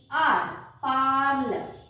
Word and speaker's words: parler: Parle. Pronounced as parle.